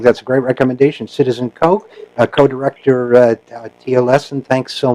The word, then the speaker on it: Koch: That's Koch, rhymes with joke, but it's spelled Koch.